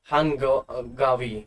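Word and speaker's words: 한가위: तो समथिंग उसी टाइप का एक कल्चर है जिसको बोलते हैं चुसियोक, है ना, या हांगावी, है ना, हांगवी, हांगावी या हांगवी, आप ऐसे प्रोनाउंसिएशन कर सकते हो।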